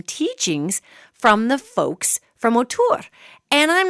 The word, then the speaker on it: O'Tuhr: the the best way I can formulate this word and reproduce it is ur and it's almost like a bird whistle and a rolling r at the end our.